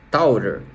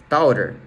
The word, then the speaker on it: Tourer: Pessoal, tô aqui editando o vídeo e eu resolvi gravar esse pedacinho só para justificar para vocês que eu falei Versys X300 Tourer, né?